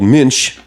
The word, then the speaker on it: Münch: And when the German motorcycle company called Münch, they wanted to build a performance motorcycle. They wanted to build a motorcycle that had... Hang on. You've said it wrong. Münch.